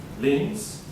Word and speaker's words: liens: The builders, how do you say this? Liens? Lines? Liens.